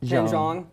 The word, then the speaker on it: Jeong: They're going to hang with Olivia Munn and Ken Jeong. I almost want to say Huang, but that's not right. That's not right. Because it's the J. I get confused with J's.